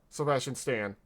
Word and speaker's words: Sebastian Stan: Sebastian Stan.